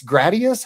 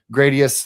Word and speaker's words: Gradius: I go soft A.